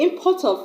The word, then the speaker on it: import: There, I have stressed on the first syllable, I-M. Then when I say he imports electronics, I've stressed on the port, the second syllable, because I've used the word as a verb.